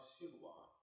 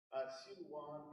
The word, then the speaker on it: Silwan: Silwan is the Arabic pronunciation of Siloam. So this is a significant biblical place. And this has been a significant community. People have lived in Silwan, dare I say, since the time of Jesus.